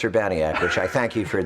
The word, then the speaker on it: Urbaniak: just non-stop since that before although it is pronounced Urbana yet which I thank you for the correct pronunciation